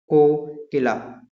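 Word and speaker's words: cochlea: अंदर वाले न की इट हैज कोलाइड ट्यूब को किला इस इस को ऐसे ही प्रोनाउंस करते हैं the sides of कोकिला Qila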